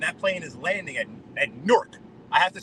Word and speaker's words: Newark: all over me for pronouncing Newark like a New Yorker, because that's how New Yorkers say it, Newark.